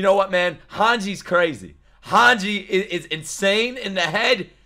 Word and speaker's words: Hanji: what man hanji's crazy hanji is insane in the head and you know what hanji rhymes with Sanji and I like Sanji